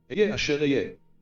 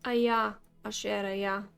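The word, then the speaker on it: אֶהְיֶה אֲשֶׁר אֶהְיֶה: Ehyeh asher ehyeh. Again. Ehyeh asher ehyeh. It's not Aya Asher Aya. It's not Ahaya Asher Ahaya. It's not any of that nonsense. This is how you pronounce it.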